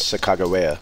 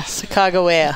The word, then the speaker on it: Sacagawea: But I guess the correct pronunciation of her name is Sacagawea. Yeah. Sacagawea.